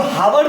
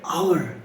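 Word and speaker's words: hour: अगर ये ओ से पहले हो और सी डब्ल्यू आर जी के बाद हो तो ये साइलेंट हो जाता है। सर कैसे? सर एग्जांपल दे देते तो अच्छा रहता। जैसे आवर, हम लोग हावर नहीं पढ़ते, हावर पढ़ते क्या? हावर नहीं, आवर।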